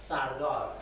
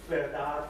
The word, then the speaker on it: Firdar: It's pronounced Fardar. There are lots of pronunciations: Firdar, Firdaria, Firdaria, and Firdar, Fardar, Fardariyat.